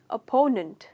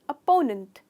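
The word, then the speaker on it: opponent: इसे जनरली लोग कहते हैं अपोनेंट। करेक्ट प्रोनाउंसिएशन है अपोनेंट। तो इसमें अपोनेंट नहीं है, नंट है, तो ओपोनेंट नहीं है, अपोनेंट। कहिए अपोनेंट, इसमें आप स्ट्रेस करते हैं यहाँ।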